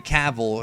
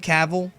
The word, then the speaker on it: Cavill: in Metropolis and there is of course Henry caval is that how you say his name caval yeah caval or Caville yeah and of course this is clar Kent